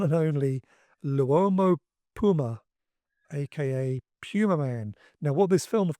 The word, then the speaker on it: Pumaman: Pleasence, throughout the movie, pronounces it Pumaman, which is the correct pronunciation, of course, whereas his American co-stars all say Pumaman.